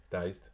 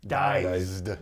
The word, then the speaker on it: Dized: We're going to be playing with an app from a company called Dized. Dized. D-I-Z-E-D.